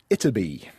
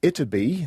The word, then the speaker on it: Ytterby: So there was, and is, I guess, a small village in Sweden that goes by the name of Ytterby. And forgive my Swedish pronunciation there, but it is spelt Y-T-T-E-R-B-Y.